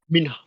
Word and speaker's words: Minhaj: No, it's Like not he did Minhaj. a. It's Minhaj. Are you teaching me a Desi name how to pronounce, you fucking white piece of?